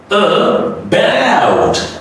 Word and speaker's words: about: Like this is the first one is, the first A is reduced. Okay? So what do you say now? About.